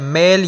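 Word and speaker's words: Malé: का कैपिटल है जकार्ता मालदीव्स का कैपिटल है मेल या माली जो भी आप इसको प्रोनाउंस करें लेकिन माली तो एक कंट्री है इसको मेल प्रोनाउंस करें आप साउथ अफ्रीका का कैपिटल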